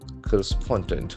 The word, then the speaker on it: correspondent: The accent falls on the third spoke. Correspondent.